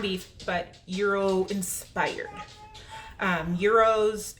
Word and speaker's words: gyros: but Euro inspired um Euros if you don't know or sometimes people don't know how they're pronounce and they call them Gyros they're like a Greek